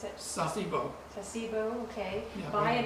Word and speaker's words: Sasebo: and you went to, how you pronounce it? Sasebo.